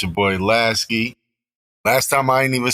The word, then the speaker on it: Lasky: word g what's the word it's your boy lasy last time I didn't even say my name so focused on the intro I say my name so it's lasy you feel me big CT on over there